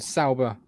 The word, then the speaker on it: Sauber: 3 years before this happens, though, we have got Alfa Romeo and Sauber partnership set to end.